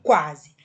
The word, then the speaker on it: quase: A semivogal, gente, ela não é pronunciada com tanta intensidade como a vogal. Ela é mais fraca. Então, quase. Percebam que esse U, ele não é pronunciado, ele dá um efeito